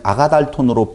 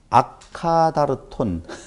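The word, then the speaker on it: ἀκάθαρτον: 아카다르톤, 아카다르톤, 아가달톤, 아카다르토스. 뭐 발음이 이렇게 되어져요. 그러니까 얼른 발음하면 아카다르톤 하면 아가달톤 이렇게 발음이 되어지잖아요. 보통 많은 목사님들이 그냥 아가달톤으로 발음을 많이 하는데 원 발음은 아가다르톤이에요.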